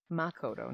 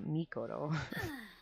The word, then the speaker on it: Makoto: Makoto, not Mikoto.